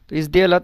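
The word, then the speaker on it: сделать: কিন্তু এটা এই শব্দতে এটার উচ্চারণ হচ্ছে কিন্তু মানে জে এর মত বা বাংলাতে বর্গীয় জ এর মত তো এটা সঠিকভাবে উচ্চারণ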